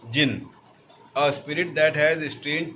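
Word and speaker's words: djinn: It is pronounced as jinn, a spirit that has strange powers and can assume any form whether it is human or animal.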